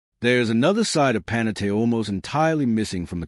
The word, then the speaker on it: Panettiere: baker in Italian, and is commonly mispronounced by fans who never quite land on the correct 4-syllable rhythm. There is another side of Panettiere almost entirely missing from